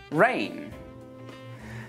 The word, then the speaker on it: reign: Let's move on to the letter G, and we don't pronounce this letter in words like campaign, assign, design, sign, reign.